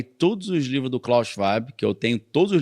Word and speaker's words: Schwab: Esse termo foi inventado por um cara chamado Klaus, se escreve Schwab, né? Mas em alemão é Schwab, já que ele é alemão.